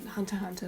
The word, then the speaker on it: Hunter x Hunter: Hunter x Hunter, like the X is silent, my bad.